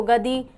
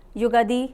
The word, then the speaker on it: उगादि: वो उसको उगादि या यह जो वर्ड युग आदि से लिया गया है युग आदि सो इसको उगादि युगा अदि ऐसे प्रोनाउंस किया जाता है तो यहां पे